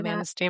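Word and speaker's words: Manistee: Manasty. Manasty. How do you say? Yeah. Manaste, Michigan.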